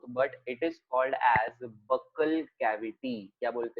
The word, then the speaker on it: buccal: आ करने के बाद अंदर का जो पार्ट होता है, इट इज not mouth but इट is called as बक्कल cavity. क्या बोलते हैं इसको? बक्कल cavity.